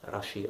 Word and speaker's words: Rashi: Shlomo Yitzchak oder Shlomo Ben Yitzchak, die Abkürzung Raveni oder Rabbi Shlomo Yitzchaki, Reshin J geschrieben, Rashi ausgesprochen, der da im damaligen Frankreich,